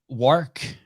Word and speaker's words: Wark: Chris Wark. Am I pronouncing it right? Yeah, okay. Wark rhymes with Work.